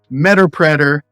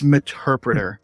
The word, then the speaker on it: Meterpreter: help hear people say meterpreter meta Predator it's meterpreter the reason we know it's an interpreter is because it is a combination of Metasploit and interpreter it is the Metasploit